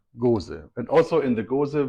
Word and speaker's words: Gose: So the Belgian style is Goes, and the German style is Gose. Goes. And Gose.